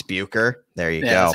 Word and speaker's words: Bucher: I don't know if many people are familiar with Rick Boucher or Boucher. I don't really know how it's Bucher. There you go. That's how you pronounce it.